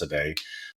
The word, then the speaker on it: Sedej: my name seday it looks like Sage but it's pronounced seday s e d EJ